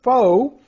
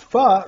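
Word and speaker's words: pho: this ad is for a foe pronounced Fa Restaurant on FM 3009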